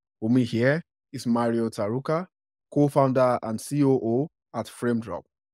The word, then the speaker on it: Tarouca: So, again, my name is Mari Tarouca. I'm from, and you pronounced it perfectly.